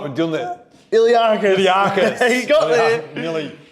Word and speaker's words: iliacus: We're doing the Iliacus. Iliacus. You got there. Nearly. What's funny about Iliacus, Ninja? It rhymes with Mark.